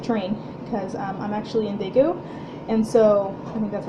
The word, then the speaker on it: Daegu: I've been knitting on that a lot anytime we take the train, because I'm actually in Daegu, and so I think that's how you pronounce it, Daegu.